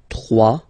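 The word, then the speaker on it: trois: 3. Final S not pronounced. 3.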